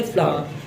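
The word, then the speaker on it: flour: आटे को हमने रट्टा लगा रखा है कि फ्लोर कहते हैं, फ्लोर, हालांकि आटे की सही प्रोनाउंसिएशन होती है फ्लावर।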